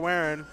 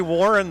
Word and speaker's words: Warren: I can pronounce that Garrett waren it's probably Warren though oh God it's Warren it's Warren switcher says it's Warr